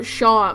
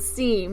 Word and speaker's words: Seam: we started recording uh Shan by the way I love the joke about about seam the cat his name isn't seam he says it's sha like how you pronounce sha